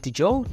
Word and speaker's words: Diageo: Let me just say, is it Diageo? That's how you pronounce it?